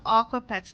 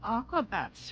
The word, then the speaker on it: Aquabats: Wait, no, I thought of Aquapets. No, okay, yeah, I've never heard of Aquabats. How do I keep mispronouncing it.